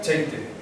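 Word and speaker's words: ḷḷeite: Se pronuncia cheite.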